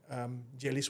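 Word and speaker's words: Gellies: menciptakan sebuah konsep bernama Jeelish World. Dunia Jeelish. Dunia Jeelish. Orang-orang bilang kedengarannya seperti kata dalam bahasa Sundanese 'geulis', tapi saya bilang tidak, bukan geulis. Sebenarnya ejaannya adalah... G-E-O-L-I-S. G-E-L-L-I-E-S. Gel...Jeelish, kan? Ide saat itu adalah, um...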